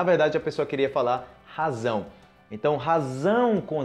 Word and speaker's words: razão: Zão, razão.